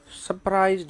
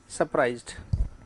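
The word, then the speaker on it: surprised: क्या लिखा अभी, व्हाट हैज सरप्राइज्ड यू, सारा प्राइज नहीं, सरप्राइज्ड, आर का उच्चारण नहीं करना है, कब नहीं करना है, जब इसके बाद क्या होता है, कॉन्सोनेंट होता है, तब तो क्या बनेगा, सरप्राइज्ड। और हम क्या बोलते हैं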